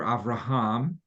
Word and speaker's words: Avraham: well, in Hebrew it'd be Avram, and then later Avraham, and in English the English is pronounced a little differently, so it'd be Avram and Avraham, or Abraham and Abram.